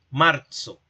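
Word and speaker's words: março: Marzo. Marzo. Esta c con cedilla se pronunciaría en la oralidad como la unión de una t y una s.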